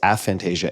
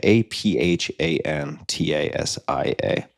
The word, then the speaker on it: aphantasia: But Fantasia is spelled like the Disney movie, but actually, no, that would be with an F. It's Aphantasia, Aphantasia.